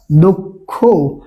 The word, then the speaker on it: দক্ষ: তাই দয়ে ঔকার ক ক্ষয়ে ঔকার দক্ষ। তাহলে দেখেন এই দক্ষ শব্দের উচ্চারণটা আমরা কি দেখতে পাচ্ছি? শব্দের মাঝে বা শেষে থাকার কারণে এর উচ্চারণ কয়ে হস ক্ষয়ের মতো হচ্ছে।